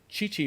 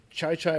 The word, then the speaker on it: Chi-Chi: a broadcast and he he was saying it's chai chai rajes and you